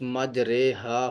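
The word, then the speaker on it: مجريها: مجریہا کا تلفظ مجریہا ہوگا.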